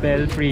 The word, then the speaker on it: Belfry: Belfry, yes.